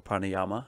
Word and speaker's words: pranayama: have been practiced so the word pranayama or pranayama as some people say you're not supposed to pronounce the last a but it's all good